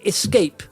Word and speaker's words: Xscape: But it's spelt XSCAPE. See, it's a bit of a crazy twist on the Escape there.